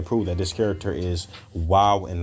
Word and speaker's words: Waw: Some people call it Vav or pronounce it Vav, V-A-V. But the correct pronunciation for this character, historically, linguistically, would be Wav.